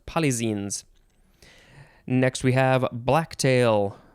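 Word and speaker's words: polyxenes: is papillio palizin polyzines p-o-l-y-x-e-n-e-s i'm assuming it's pronounced polyzenes next we have black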